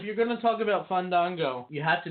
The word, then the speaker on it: Fandango: going to talk about Fandango, you have to make sure to say his name right, Dustin. It's Fandango. You have to do it like that. Deanna will do it. She'll show you. Oh. Fandango.